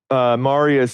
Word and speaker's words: Marius: Okay, so I'm here with, also known as Marius, right? Is that your name? Yeah, that's Pronounced it my right? name. Okay, good. Yes. Yeah, so Marius has a channel.